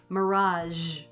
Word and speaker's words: mirage: Have you ever noticed that the sound in the middle of the word measure is the same as the sound at the end of the word mirage? Zh, measure, mirage. One is spelled with an S and the other is spelled with a G, but they're both the same speech sound.